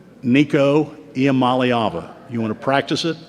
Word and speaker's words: Nico Iamaleava: Can all of you pronounce the quarterback's name? Nico Iamaleava. You want to practice it? Let's go. Nico Iamaleava.